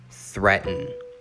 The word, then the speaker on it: threaten: number three is threaten threaten the a does not make a sound in this word and the emphasis is on the first syllable threaten the definition to